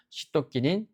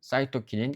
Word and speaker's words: 시토키닌: 시토키니는 발음에 따라서 어떤 그 교재나 출제된 사항에 따르면 이게 사이토키니라고도 하기 때문에 이런 거 외국어이기 때문에 발음상 문제일 뿐이라는 걸 꼭 알아두시기 바랍니다. 그래서 시도끼닌, 사이토킨인 같은 말입니다.